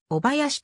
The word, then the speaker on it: 小林: の消灯公明の小林は兵庫県宝塚市にある地名でお囃子と読み巧者は阪急今津